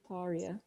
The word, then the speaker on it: Taria: How do you pronounce that name? Tarira or Taria? Taria. Taria. Sure.